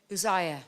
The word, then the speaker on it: Uzziah: Is that how you pronounce? How do you say? Uzziah. Okay, so I got it. Uzziah, who was 16 years old, and made him king in the room of his father Amaziah.